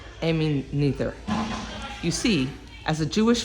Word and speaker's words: Noether: Actually, I believe it's pronounced Noether.